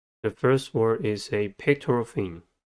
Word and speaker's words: pectoral: The first word is a pectoral fin. Pectoral has 3 syllables and the stress is at the first one.